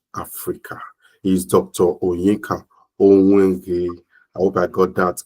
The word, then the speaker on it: Onwughai: It's actually pronounced Onwughai, but however you pronounce it. Okay, yes. Now I'll get it. Onwughai.